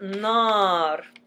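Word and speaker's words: نار: For example, nar, nar. Nar, nar, we open our mouth like there's a double A, and the alif is actually attached to the letter in front of it.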